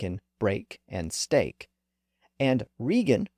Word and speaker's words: Regan: break and stake and Regan reflects a more modern pronunciation with the vow shifted up to position number one as in seat and leaf the pronunciation of those